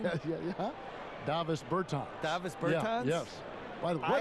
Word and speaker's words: Bertans: Oh, well, now, at this point in my life, it's Davis Bertans. Is that how you say his name? Yeah. Davis Bertans.